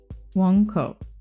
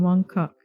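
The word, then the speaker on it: Mong Kok: So, it's actually got a W, like a W sound instead of M.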